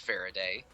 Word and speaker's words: Faridah: Just Faridah is pronounced Faraday. Yeah, Faraday.